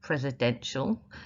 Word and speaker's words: presidential: Presidential, that second syllable there is quite unstressed.